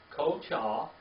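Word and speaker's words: כֹּחָהּ: Kochah.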